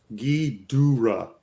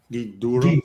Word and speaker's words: Ghidorah: I'm getting corrected on my pronunciation. Ghidorah. Ghidorah. What? This is like. Venomite says Gidorah.